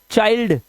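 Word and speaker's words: child: बाद एल डी है तो आई का उच्चारण आई करना है mind find bind वाइल्ड चाइल्ड चिल्ड नहीं करना इसको चाइल्ड यह रूल है।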